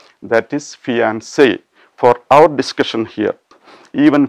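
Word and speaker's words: fiancée: pronunciation is concerned okay when we add an extra e to fiancee the meaning changes the gender changes but the pronunciation remains unchanged so the feminine gender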